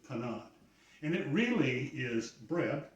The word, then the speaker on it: panade: The first step is to make a panade, or depending on your pronunciation, panade. I'm going to go with what I think is probably the more European version, panade.